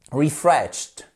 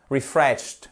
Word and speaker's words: refreshed: quoi je veux parler refresed refreshed sorry refreshed j'exagère sur le ti à la fin mais c'est bien un ti hein pour vous entendiez